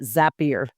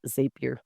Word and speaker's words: Zapier: I pronounce it Zapier, not Zapier.